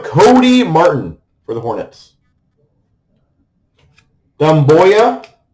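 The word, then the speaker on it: Doumbouya: Dumboya. Dumboya.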